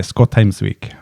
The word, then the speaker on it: Skotheimsvik: pronounce my name well in Norway we say scotes week yeah yeah yeah good